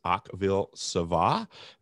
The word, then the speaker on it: Akvile Sava: It's Akvilesava.